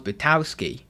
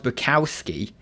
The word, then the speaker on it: Bukowski: when i've read charles bertowski i always say his name wrong charles bukowski it's because i always